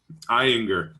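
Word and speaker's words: Ayinger: But for myself tonight, yep, we already talked about how to pronounce this, and I don't remember. Anybody? Eyinger.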